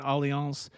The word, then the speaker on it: Allianz: It's spelled like alliance with a Z, but Allianz.